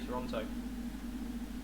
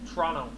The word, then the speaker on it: Toronto: probably say toronto or toronto as they call it over there if you literally spelt toronto if you pronounced it in canada it would be t-r-o-n-o toronto there's there's no other t in it it's just that's it